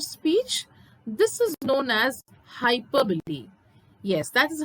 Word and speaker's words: hyperbole: next figure of speech this is known as hyperbole yes that is how you are supposed to pronounce it is pronounced as hyperbole what is hyperbole it is nothing but an